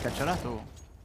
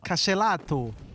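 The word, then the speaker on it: KSCERATO: Et je pense que c'est cacciarato. Non, là, ça fait un peu italien comme tu l'as prononcé. Non. Cacelato!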